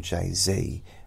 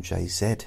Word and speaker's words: Jay-Z: the the rapper JZ so you in America they call him JayZ we call him JZ here and that probably sounds a